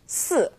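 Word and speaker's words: 死: now we all know the number four is pronounced s fourth tone right well the word for death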